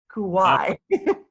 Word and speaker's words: Kauai: do you actually pronounce Kauai easier if you can if you can say oh why like in Hawaii islands then you can say Kauai Hawaii is actually one